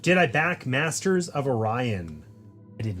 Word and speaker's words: Orion: it's pronounced Orion, and they were like... What am I doing? And it just reminded What me. were they saying? Orion? They were saying Oreoion.